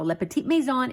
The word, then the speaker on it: Le Petit Maison: that because the owner is the one that pronounces it like that so Le Petit Maison is a beautiful French Boutique they sell antiques